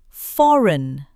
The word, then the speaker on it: foreign: When you see G, N together, the G is usually silent. Sign. Design. Foreign.